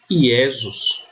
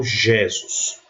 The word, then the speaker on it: Iesus: O J eu sempre pronuncio I. Então, se eu encontrar num texto latino essa palavra aqui, eu vou ler Iesus, não Jesus.